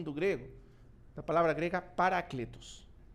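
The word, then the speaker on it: παράκλητος: grego da palavra grega paracletus paracletus querer pronúncia no grego paracletos que significa paracletos quando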